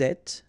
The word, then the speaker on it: êtes: Vous êtes, little liaison between the two, and then final S not pronounced.